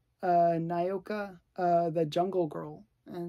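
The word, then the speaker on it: Nyoka: of um this is Nokia Nokia no wait no Nai OKO thanks okay wow why do I always mess up her name naoka there I said it right after a million times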